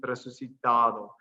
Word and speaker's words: resucitado: And just so it's really important that if you do this, the accent goes on the second to last syllable in resucitado.